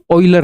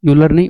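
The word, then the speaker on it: Euler: ऑइलर हां वैसे इसके नाम को प्रोनाउंस करते हैं। ऑइलर यूलर नहीं ऑयलर।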